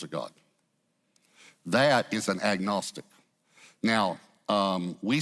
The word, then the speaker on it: agnostic: That is an agnostic.